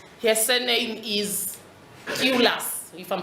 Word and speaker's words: Tylus: And another undertone, this one is very important, is by a Polish woman called, her surname is Tylus, if I'm pronouncing it right, T-Y-L-U-S.